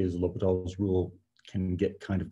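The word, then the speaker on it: L'Hôpital: accent uh i yeah sometimes you'll see it spelled with an s put in there but it's an it's it's a silent s and h l'hopital does mean the hospital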